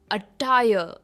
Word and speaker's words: attire: Next है अटायर, अटायर, इसमें भी आर प्रोनाउंस नहीं होता है, ये है अटायर।